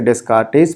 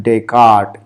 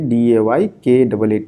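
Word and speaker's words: Descartes: ठीक है, तो डेस्कार्टेज जो है वो इंडियन स्टाइल में इसे डेस्कार्टेज पढ़ते हैं, लेकिन फ्रेंच प्रोनाउंसिएशन इसका है डेकार्ट। ये DAYKAAT, डेकार्ट इनका प्रोनाउंसिएशन है।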